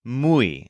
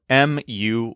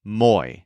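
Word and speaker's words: muy: word is not pronounced Mo it's mu think of mooing like a cow and you'll pronounce it correctly mu and again just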